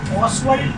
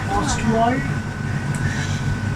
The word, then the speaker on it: Ostwald: ऑस्वाल्ड process. इसको हम लोग क्या बोलते हैं? ऑस्वाल्ड क्या बोलते हैं?